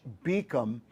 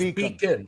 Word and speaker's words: Beacom: Goldie Beacom College in Beacom? I thought it was Beacon.